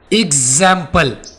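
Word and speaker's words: example: एग्जाम्पल, जैम्पल। जा की आवाज आ रही है ना, यहां पर एक्स हमें जेड की आवाज दे रही है, यानी जेड की साउंड आ रही है।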